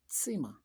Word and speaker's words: Zimmer: Das Zimmer. Remember, Z is pronounced like a ts for tsetse fly. Das Zimmer gehört mir.